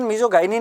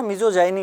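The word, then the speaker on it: misogyny: अच्छा, इसका exact pronunciation मीजोगाइनी नहीं होता, मीजोजाइनी होता है, ये ध्यान रखिएगा।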